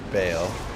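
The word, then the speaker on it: Baal: against elemental damage cuz ball can dish out a variety of attacks. And remember to keep moving. Staying mobile will help you dodge some of those nastier abilities. Uh, it's pronounced bale.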